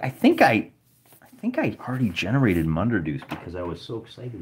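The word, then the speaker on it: Munderdoose: And I'll just write that down here, Munderdeuce, and I spell it D-O-O-S-E. Rhymes with moose.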